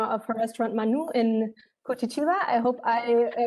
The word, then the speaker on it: Curitiba: and the owner of her restaurant Manu in Curitiba. I hope I pronounced that right.